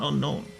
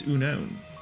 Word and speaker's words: Unown: I think unown he said. He's like there's no K. It's not unknown. It's unown.